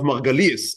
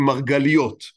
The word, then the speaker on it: Margalies: So he's learning by Rav Margalies. Again, in Hebrew pronunciation, we call him Margaliot. But he himself, as I said earlier, he would not recognize himself. I would call him Margaliot. It's called Margalies.